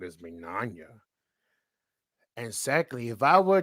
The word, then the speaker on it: Mignogna: And 2, why did you screw over Vic Mignogna? And then she said, well, first off, you said his last name wrong as Mignogna.